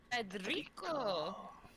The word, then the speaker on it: Federico: Federico. Gotta roll your R's.